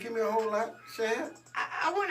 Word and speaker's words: Shad: Now I was saying Shade Moss, but I was pronouncing it wrong. What is it? Shad.